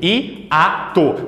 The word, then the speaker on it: hiato: Eu pronuncio I-A-to. Perceba que o I, ele é forte. Aqui o I passou no concurso. Aqui ele tá fodão. Então é I-A-to. Eles se encontram, mas em sílabas diferentes, ok?